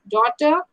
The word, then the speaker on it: daughter: from these three words these four words neighbor daughter fight and strange can you tell me the silent letters gene look carefully neighbor and actually these are the pair of letters exactly G and engine SC G H here also G H here also G H and yellow so G H